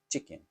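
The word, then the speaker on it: チキン: you say chicken well it's chicken you know same way because it just Katakana chicken right or it's Tori niku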